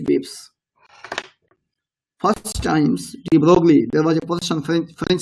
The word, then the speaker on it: de Broglie: In 1924, French physicist Principal Louis de Broglie, pronounced as de Broglie, made a remarkable proposal about the nature of matter.